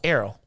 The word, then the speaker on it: Errol: Oh, not like a arrow, like a... No, Errol. Like ERROL. You know, black people will mess that name up.